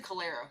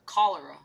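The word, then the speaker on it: cholera: I know it's chalera, but yet I go. My brain My brain is too powerful that it speaks even when it doesn't when I know how to pronounce something and my brain's like, "Oh, no. Say it this other way. Say it the other way.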